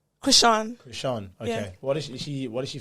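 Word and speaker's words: Chrisean: Krishan.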